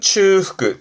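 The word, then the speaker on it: 中腹: 일단 발음은 츠후크, 츠후크 그러는데 주로 쓰는 건 야마노 츠후크, 산의 중턱.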